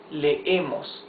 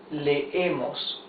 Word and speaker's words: leemos: Double E's, you pronounce them. It's not a long E. It's, you make like a stop. Lee, okay? Él lee. Yes? As if you try to pronounce two E's together. Lee. Or nosotros leemos. You see, you pronounce both E's.